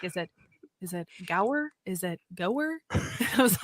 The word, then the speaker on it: Gower: We have yet again another special guest on today, and his name is Gower.